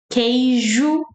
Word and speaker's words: queijo: Queijo, queixo, queijo. Ah, once again, you don't have to pronounce queijo, the A sound, right? So you can just pronounce E.